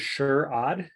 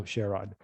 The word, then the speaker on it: Sherrod: My name is Sherrod, because I'm a sure-odd kind of guy.